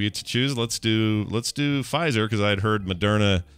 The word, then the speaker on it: Pfizer: Pfizer, the Pfizer. Oh, that's right. Yeah, I remember we talked about that. Carter pronounces it Pfizer. Yeah, a little German in my veins.